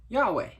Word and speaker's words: Yahweh: the hebrew word that's spelled yhwh now normally we fill in the vowels and we call it yahweh so if you've ever